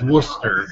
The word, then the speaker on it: Worcester: My last name is Worcester. Worcester. Yes. Worcester. and I met just on Tuesday night at the. It's not like the Boston Worcester. Exactly, pronounced that way anyway.